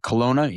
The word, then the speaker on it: Kelowna: Kelowna, you said it right.